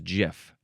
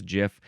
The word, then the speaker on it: GIF: Uh, he he says the correct pronunciation is GIF. Mimicking the American peanut butter brand.